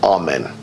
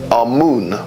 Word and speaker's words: Amun: Now, Amen is the pronunciation that the Hebrews give it, and some scholars agree to use that pronunciation. Amun is the pronunciation given to it by one of the old European scholars, Plutarch. In the language of Kemet, the word for hidden is Imen, or Amun is the way that